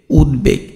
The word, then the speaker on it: উদ্বেগ: থাকে, যথা দেখো উদ্বেগ, উদ্বেগ, তাই না? তাহলে এই যে উদ তারপরে কি বেগ, এইখানে দেখো তোমার ব ফলার কিন্তু উচ্চারণ হচ্ছে।